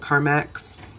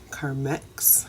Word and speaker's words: Carmex: uses Comics car mix remember when we used to all call it car max as if it's spelled car ma X its e^x Carmex I bought this like